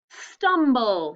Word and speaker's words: stumble: Stumble. Let's do the syllables. Stumble. Okay, go ahead. Write the first syllable. Stum. Ha, look. And then the second syllable, write bull.